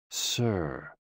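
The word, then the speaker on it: 呬: SI, pronounced like sir, with a slow exhale, which is associated with the lungs.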